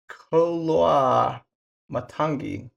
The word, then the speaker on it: Koloamatangi: Koloamatangi. There you go. I'm pretty sure that's how you pronounce it.